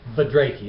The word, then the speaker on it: Budrakey: I'm with Ross, whose last name it's hard for me to pronounce. Ross Budrakey. Budrakey, okay, that's how you do it.